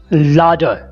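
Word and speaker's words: ladder: iron, चाबी, की, सीढ़ी, लाडर, लाडर, इसमें आर थोड़ा हल्का सा प्रोनाउंस किया जाता है, आर की आवाज़ बिल्कुल मध्यम सी होती है, लाडर, लाडर, माचिस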